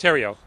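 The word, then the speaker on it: Theriault: out in this regard my last name is spelled t-h-e-r-i-a-u-l-t pronounced Terio thank you thank you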